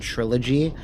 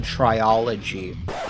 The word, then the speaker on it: trilogy: I thought it was called triology, which makes no fucking sense. The L is not even where that would be if you were to say it.